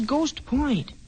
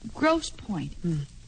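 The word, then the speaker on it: Grosse Pointe: Where's Ghost Point? I don't know, Billy. It's probably a suburb of Detroit. But I think you pronounce that Grosse Point.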